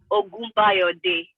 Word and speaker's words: Ogunbayode: How's it pronounced? No, Ogunbayode.